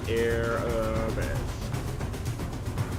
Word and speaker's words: Arabesque: Because apparently the end of it's besk. Shouldn't it be B-E-S-K instead of Q-U-E?